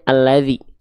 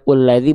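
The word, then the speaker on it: الَّذِي: Maka dibacanya alladzi, bukan ulladzi, bukan illadzi.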